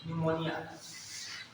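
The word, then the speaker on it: pneumonia: इसके अलावा जो सिफिलिस, ठीक है, गोनोरिया, निमोनिया है बेटा, निमोनिया, निमोनिया होता है, निमोनिया लिख लीजिए, निमोनिया में पी साइलेंट होता है, निमोनिया, ठीक है।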